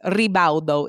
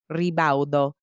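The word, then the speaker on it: Ribaudo: Rebaldo is how you say it. And my mom's maiden name is spelled R I B A U D O. Rebao.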